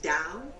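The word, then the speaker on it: Tao: it's t a o t looks like ta yeah but it's pronounced da Daoism and that is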